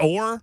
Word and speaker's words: Orr: Is it Orr? Orr, yeah. Like the rowboat? Yes.